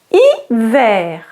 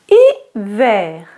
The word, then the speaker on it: hiver: The H is not pronounced in French.